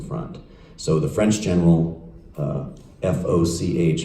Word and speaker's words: Foch: So the French general, F-O-C-H, how would we pronounce that?